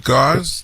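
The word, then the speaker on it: Gozz: I hope I pronounced it right. G-O-Z-Z. Gauze? Did I say it correctly? Yes, you said it, and I've called in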